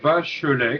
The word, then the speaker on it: Bachelet: son facebook notamment donc Julien Bachelet comme ça se prononce avec et à la fin et donc avec lequel